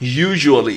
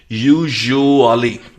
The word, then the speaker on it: usually: ज्यादातर, आमतौर पर, यूजुअली, इसकी प्रोनाउंसिएशन थोड़ी सी ट्रिकी है. यूजुअली, यूजुअली अगर नहीं प्रोनाउंस कर सकते हैं, सो देन इट्स ओके.